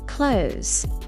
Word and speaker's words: clothes: Clothes. Clothes. It sounds like clothes. Clothes.